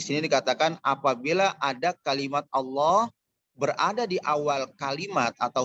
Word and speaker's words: Allah: Jadi ketika tabkhim itu seakan-akan huruf O, Allah.